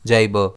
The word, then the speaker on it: jibber: इसे हम प्रोनाउंस कैसे करते हैं? जाइबर। इसमें स्ट्रेस जेड पर रहता है।